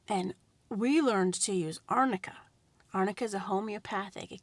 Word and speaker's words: arnica: What you can use is arnica. Arnica is spelled A-R-N as in Nancy, I-C-A.